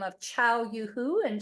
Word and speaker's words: Chao: welcome hi everyone uh my name is CH it pronounced like the ital Italian goodbye CH in case you wonder